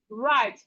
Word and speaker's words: right: IGH says I. So we have this word like right, I, right, I, right, like your right hand, or take the right upstairs, or take the right way.